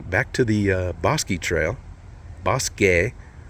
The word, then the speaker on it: Bosque: gonna go down back to the Bosque Trail boss gay say it correctly caution slow down I don't